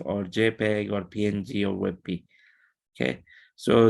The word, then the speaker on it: WebP: multiple level of transparency and then finally is webp and this is uh this is relatively new